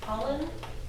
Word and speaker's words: Pollan: I've been reading a lot of Michael Pollan. How do you pronounce his last name? Pollan? Pollan, like you said, Pollan.